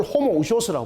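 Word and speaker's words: ὁμοούσιος: 요거는 이형인데 요렇게함으로써 희형 발음을 하라는 뜻이에요. 요것을 호모 우쇼스라고 말하는 거 동일본질.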